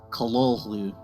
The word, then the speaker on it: Cthulhu: and we'll show you how to actually pronounce it it's more like how did hp lovecraft pronounce this word well the short answer is callallu so this game came